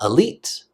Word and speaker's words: elite: cut off like that the first sound is an O sound and then lalala you should know that one leat leat so that I actually sounds like a long e he elite elite elite